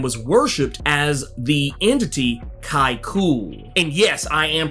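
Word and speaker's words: Kai'ckul: where the sandman was worshipped as the entity kai cool and yes i am pronouncing it correctly that is how it's pronounced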